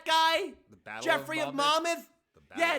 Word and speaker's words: Monmouth: The Battle Geoffrey of Monmouth? Yeah, it's a fucking 1,000-year word. It comes from England, and it's always been pronounced Monmouth. It's not Monmouth, you fucking stooge.